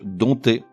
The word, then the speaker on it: dompter: le mot épié je puisqu'il s'écrit avec un P devant le thé des ompt TER et pourtant ce P ne se prononce pas il muet on dit donc dompter exemple ça fait balburette